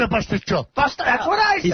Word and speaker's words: pasticciotto: But he just said, though, pasticciotte. That's how you say it. Pasticciotte, you. He said pasta I don't say pasticciotte, I say pasticciotto.